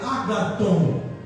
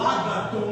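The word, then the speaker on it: agathon: A palavra boa no grego, ela vem ela é uma palavra que se pronuncia agaton. Ela vem, o agaton não é de ágape, não tem nada a ver.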